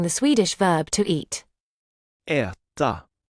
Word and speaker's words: äta: Try pronouncing the Swedish verb to eat. Äta. Äta.